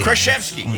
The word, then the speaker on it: Kraszewski: Kraszewski. Kraszewski. Did I pronounce it wrong all the time? Kraszewski. Kraszewski.